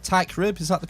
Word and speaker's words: Teichrib: this podcast call TI crib is that correct TI crib is that the correct pronunciation that's absolutely right you nailed it super